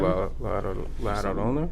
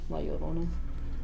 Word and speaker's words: La Llorona: La Llorona. How do you say it? No. I just say it the white way. La La Llorona.